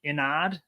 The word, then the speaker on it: Inad: And then the other one is, I haven't really decided how you should pronounce it. I guess it's me, but I would say it'd be Inad. Determined Focus exclusive, dude. I guess when I say it in my head, I would say Inad.